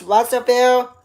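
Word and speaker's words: Russellville: That's Russville.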